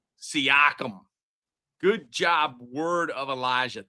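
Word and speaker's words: Siakam: Seakum. Seakum.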